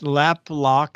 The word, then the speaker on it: LapLok: They're at LapLock. It's spelled LAPLOK. Okay, LapLock. The C is missing.